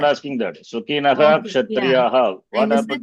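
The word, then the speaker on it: सुखिनः: Some are chanting Sukhinah, not Sukhinaha. Not Sukhinah. Should be Sukhinaha. Visarga should be pronounced.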